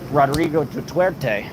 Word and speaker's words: Rodrigo Duterte: Then I was going to ask you guys, one or the other, Rodrigo Duterte, that's how to say his name, the former